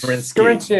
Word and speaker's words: Scarinci: Seconded without knowing the proper pronunciation of that I name. think is it Scarinci? Is that? It's Scarinci and Hollenbeck.